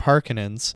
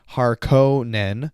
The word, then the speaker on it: Harkonnen: was the fact that the movies pronounced the name differently. 1984, Harkonnen, and 2021, Harkonnen. So maybe this is different because I heard it first, but I personally prefer the 1984 pronunciation.